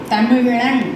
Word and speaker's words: தமிழ்: இது வந்து எப்படின்னா நாற்பது மடித்து அப்புறமே பின்னாடி போனால் தான் இந்த உச்சரிப்பு வரும். தமிழன் அப்படிங்கும்போது தமிழ் அப்படின்னு வரும்.